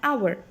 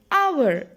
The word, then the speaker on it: hour: The next word, hour. We are not saying hour, isn't it? Hour is the correct pronunciation. So, our sound is there.